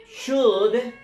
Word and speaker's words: should: it's possible that so should in other words you first you need to understand how to pronounce so the pronunciation is true assault you never pronounce oh never pronounce L okay unless a very